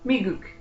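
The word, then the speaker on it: 미국: And how you say it in Korean is Miguk.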